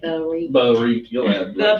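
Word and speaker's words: ברית: But you know the way I talk, I say Barit. Barit. You'll add The like 4 different Barit.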